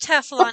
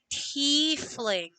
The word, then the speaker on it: tiefling: Not pronounced Teflon, dear. It is called tiefling.